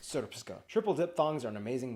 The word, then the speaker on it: Srpska: I know, it looks like it's pronounced Srpska. It's pronounced Srpska.